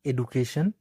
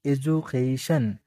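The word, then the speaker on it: education: উচ্চারণ করি সেটা হচ্ছে এডুকেশন পটেনশিয়াল মালয়েশিয়া উচ্চারণ গুলো আমরা মূলত এভাবে করি কিন্তু ইংলিশ উচ্চারণ এইটা না ইংলিশ উচ্চারণ কোনটা হবে ইডি ইউ এডু বলি এডু হবে না এজু এজু সিয়া এজুকেশন এজুকেশন পটেনশিয়াল বলি আমরা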